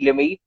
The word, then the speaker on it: Limaye: we have is Shireen Limi. She is, I think, India's Yes, youngest. how are you pronouncing my name? Shireen. Okay, let's stick with Limay. Shireen, right? I'm gonna teach you Limai.